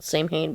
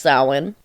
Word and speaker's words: Samhain: is spelled Samhain, or a lot of people pronounce it Samhain, but it's pronounced Samhain.